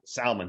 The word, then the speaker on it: Salman: and is it Salman or Salman? You got it. Salman. Which Salman, like how people mispronounce salmon.